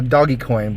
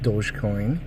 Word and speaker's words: dogecoin: have some dodge dogecoin I want to call a doggy coin but it's pronounced dogecoin and what else do